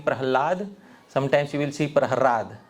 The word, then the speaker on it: Prahlad: can see the spelling Prahrad instead of Prahlad. The spelling that we know is Prahlad with the la. But here it is Prahrad with the ra. La, ralayo, rabheda. There is non-difference between the syllables ra and la.